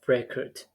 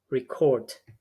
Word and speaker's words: record: So we have record.